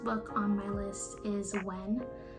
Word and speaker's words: WH3N: It talks about his journey of when he was a YouTuber.